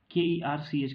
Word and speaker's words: Kerch: अब एक आपका कर्च, ठीक है, इसका आप अलग अलग प्रोनाउंसिएशन किया जाता है, KERCH कहा जाता है इसको।